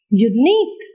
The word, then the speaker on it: unique: Where do you put the syllable? On the last syllable.